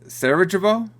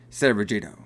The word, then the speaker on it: Sarajevo: Sarajevo.